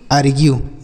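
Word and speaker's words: argue: अर् ग्यू ऐसा पढ़ेंगे तो अगर यू और इ एक साथ रहे तो इससे आपको उ का उच्चारण करना है उ का या फिर यू का उच्चारण यही आपको करना होता है चाहे छोटा उ करना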